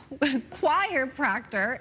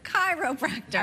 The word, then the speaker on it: chiropractor: Now, Nancy from Paradise says, my friend always said choir-proctor instead of chiropractor.